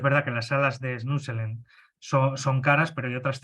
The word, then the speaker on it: Snoezelen: sale mal el nombre, se escribe Snoezelen, ¿no?, Snuselen, ¿no?, de estimulación multisensorial, con